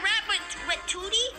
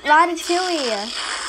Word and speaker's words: Ratatouille: Is that Rat Batuti? No, it's Ratatouille. That's Rat Batuti. Ratatouille. Yeah, it's Ratatouille. This is how the sisters pronounce it.